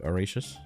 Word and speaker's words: Horatius: wood, and I'm realizing, is it actually the proper way when I call you Horatius? Yeah. No, you're pronouncing my name okay. correctly. My name is Horatius.